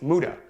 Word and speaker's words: muda: It's waste, muda. You want to eliminate all muda from your life. It's spelled M-U-D-A.